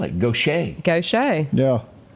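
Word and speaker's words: Gautier: you'd ever spell it goet go yeah g a u t i e r g o s h a y I'm we great who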